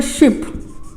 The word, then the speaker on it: ship: तो ध्यान रखना है, यहाँ पे SHIP शिप छोटे की मात्रा, और SHEEP इसको हम लोग प्रोनाउंस करते हैं शीप।